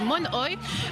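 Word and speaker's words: monoï: Je viens de l'apprendre, en fait, on le prononce mal. Ici, on le dit monoi, mais c'est du monoi.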